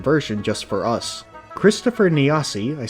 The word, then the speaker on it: Nasi: of the western version just for us Christopher Nasi I said it right that time sorry for mispronouncing it in my first video remade his